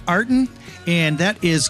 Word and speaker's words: Artin: So maybe now everyone will remember pronounced, Artin, which is Artin. And I like to think of it as puts the art in music.